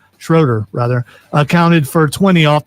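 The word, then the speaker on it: Schröder: and Dennis Schrader Schroeder rather counted for 20 off the bench. Game three is Thursday night.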